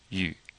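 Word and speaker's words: 预: case preview U youi pay attention to this U being pronounced that U is kind of like a French U you have to purse your lips and we'll in the pronunciation video we'll go over this you but you purse your lips like you're going to kiss someone almost well not really pucker them but Pur them and say you you okay so what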